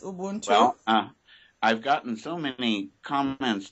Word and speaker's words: Ubuntu: me bring it closer and uh this uh Ubuntu yes am I pronouncing it right that's correct Ubuntu I've gotten so many comments just from the